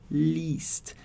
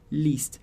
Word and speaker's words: liest: Então, quando você vê o i, e, você vai fazer um i prolongado. Então, liest, liest.